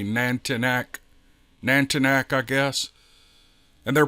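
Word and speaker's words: nantinaq: here as the nantina n-a-n-t-i-n-a-q Carol says it's pronounced nantina but it could be nantanak nantanak I guess and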